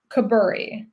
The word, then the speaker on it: Koburi: Koburi, like a burr.